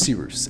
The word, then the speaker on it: Cyrus: discretion my name is sirus it's spelled like cyrus pronounced like sea rooster just take out the tur thank you very much